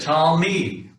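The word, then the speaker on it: תלמיד: Talmid. The shiva is a stop underneath the lamed. So we got Talmid. Two-syllable word there, Talmid.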